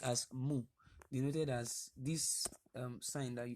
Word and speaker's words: mu: the Greek lowercase move now it's called it's pronounced as mu as this sign that you can see I